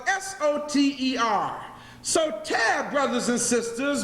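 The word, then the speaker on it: Soter: say so tell your anyone write it down it's spelled s o ter so ter brothers and sisters means Savior Oh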